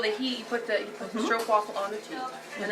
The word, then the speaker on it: stroop: This is called a stroop waffle.